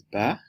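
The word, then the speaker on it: 拔: For instance this tone ba is eight and this is ba means to pull up. This is ba to handle and this is ba which is dad.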